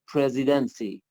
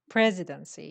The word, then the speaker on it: presidency: you know um pres presidency presidency yes this just is on the first syllable yes okay what's that